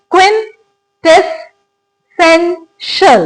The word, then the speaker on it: क्विंटेसेंशियल: क्विंटेसेंशियल. तो वर्ड क्या है? क्विंटेसेंशियल. इसके अंदर 2 सिलेबल्स जिनके ऊपर हम स्ट्रेस देते हैं. एक सबसे इंपॉर्टेंट जो हम स्ट्रेस देते हैं वो देते हैं सेन, और सेकेंड स्ट्रेस हम देते हैं क्विन पे.